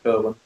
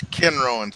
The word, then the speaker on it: Kenrowan: Why do you say that, Mr. Kerwin? It's Kenrowan, sir.